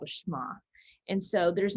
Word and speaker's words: Shema: And so that prayer is called a Shema.